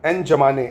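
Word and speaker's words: N'Djamena: ऐसे ही चैड की राजधानी की बात करें अगर तो एन जमाने एन जमाने एन जमाने है ना डी साइलेंट है।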